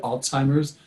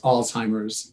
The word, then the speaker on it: Alzheimer's: like an alts altz Alzheimer's a little more but the common pronunciation is just alz like alls alls Alzheimer's would be the common